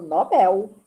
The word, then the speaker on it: Nobel: não tem acento bom então eu digo Nobel o prêmio por isso que foi criado o Prémio Nobel da Paz e se alguém que disser que o nome é Nobel ou não vou discutir porque eu não sei como é na língua original mas aqui no Brasil na língua portuguesa é o digo Nobel por causa do ele porque não tem acento no dó Tá